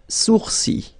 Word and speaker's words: sourcils: Sourcils. Okay, so it's quite strange because you get this LS at the end, but then, well, you don't pronounce them.